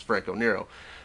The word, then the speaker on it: Franco Nero: how to spell the name knows the D is silent and walks away because it's Franco Nero uh I I wonder how many people got